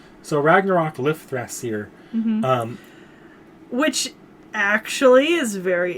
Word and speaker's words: Lifthrasir: So it is a TH, so it's Lifthrasir. So Ragnarok Lifthrasir.